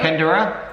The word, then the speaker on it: Panaderya: So JNJ Panaderya. Read it. Panaderya. JNJ Panaderya. Read it syllable by syllable.